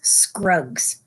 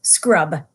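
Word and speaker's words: Scrubb: I mispronounced his name. I should start again and say there was a boy called Eustace Clarence Scrub, not Scruggs, but Scrub, and he almost deserved it.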